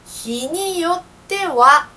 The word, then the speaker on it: によっては: Se pronuncia "niyotewa". "Niyotewa" tiene "ha".